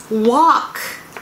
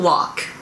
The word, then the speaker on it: walk: 今日は walk と work の発音の違いについて練習したいと思います。歩くの walk、walk と働くの work、work。発音違いますよね。日本語では歩くの方 walk、働くの方 work っていうふうに、カタカナでは表現されてますけど、歩く方は walk、walk、walk っていう感じですね。で、この work は wa と r、その、舌が上にくっついて一緒に一緒にというか wa って言いながらこう上にこうくっついて work、work、この辺からこう低い感じで work、work、work っていう風になります。で、1番目 I love to walk、 I love to walk、私は散歩するのが大好きです。